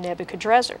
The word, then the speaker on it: Nebuchadrezzar: Now you mentioned Nebuchadnezzar, and you Yes. notice I use the pronunciation Nebuchadrezzar.